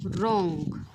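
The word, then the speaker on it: wrong: ते काय आहे बघा रॉंग रॉंग म्हणजेच काय विद्यार्थी मित्रांनो चूक आणि हा जो काही शब्द आहे यामध्ये सुद्धा काय आहे रे हा जो काही डब्ल आहे हा सायलेंट आहे लक्षात आलं का चला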